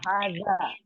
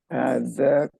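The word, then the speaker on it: هذا: Coba Ibu bedakan pengucapan hasa, haja sama haza. Za, dia huruf Z, huruf Z. Haja. Haza. kalbun. Hadza kalbun.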